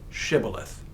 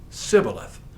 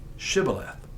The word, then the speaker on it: shibboleth: said no they said to him then say shibboleth and he said sibileth for he could not pronounce it right Then They seized him and